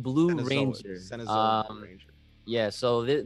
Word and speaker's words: Cenozoic: Cenozoic. Yeah, the Cenazoic Blue Ranger. Cenzoic Blue Ranger.